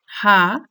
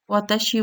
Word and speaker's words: は: Particle এখানে লেখা আছে হা, কিন্তু যখন আমরা এটাকে কোনো একটা সেন্টেন্স ইউজ করব সেটা উচ্চারণ হয়ে যাবে ওয়া নাকি হা। এটা আমরা এখানে দেখব। বেসিক ওভারভিউ অফ পার্টিকেল, তাহলে প্রোনাউন্সিয়েশনটা লেখাই আছে ওয়া।